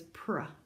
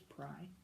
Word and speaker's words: pry: Do you know what a Y sounds like in a one syllable word? Like the word my? I. It sounds like an I.